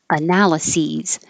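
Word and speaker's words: analyses: or the seven C's all of these sound exactly the same C's C's C's Seas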